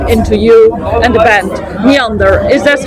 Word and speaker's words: Neànder: we dive in into you and the band Meander is this how your name is pronounced yeah yeah it's correct just a German